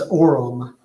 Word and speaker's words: Aurum: Aurum? It's Aurum.